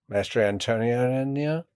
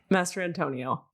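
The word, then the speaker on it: Mastrantonio: Master Antonio? Yes. I always add 2 syllables to her name. Master Antonio. Oh, I got it right.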